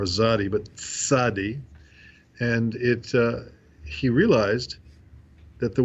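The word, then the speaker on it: צדי: the end of words, whereas in Hebrew that sound TZ or TS is a separate letter called tzadi, not sadi or zadi, but tzadi, and he realized that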